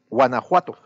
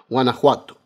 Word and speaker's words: Guanajuato: Muchas gracias, porque sé que cambia, por ejemplo, es Oaxaca, ese ya lo tengo incorporado, Veracruz, Chiapas, Tabasco, Guanajuato, ¿es así, correcto? Es Guanajuato. Guanajuato, bueno, perfecto.